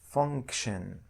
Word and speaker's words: function: i o n we we pronounce it like shin so the pronunciation for all the word function function as i said